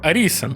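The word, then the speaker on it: Arisen: драконячий догмат До речі пишеться як orizen але читається саме як аріisен але на ваш Трон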